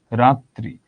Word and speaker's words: রাত্রি: রাত্রি, এখানে ত এর সঙ্গে রফলা আছে, ত দুইবার আসলো।